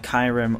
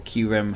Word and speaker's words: Kyurem: Now next up we have Kyurem, or Kyurem, however you want to pronounce it.